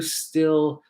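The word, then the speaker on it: Stihl: So it's kind of funny because they're telling me at the booth that it's pronounced Still.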